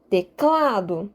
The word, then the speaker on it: teclado: teclado tudo bem e teclado aqui eu estou enfatizando cá teclado sim teclado é teclado então de fato o cla é a sílaba tônica a sílaba que eu mais enfatizo e teclado teclado é diferente de teclado então de fato não é o t que eu estaria enfatizar é teclado clá é a sílaba mais forte e neste caso específico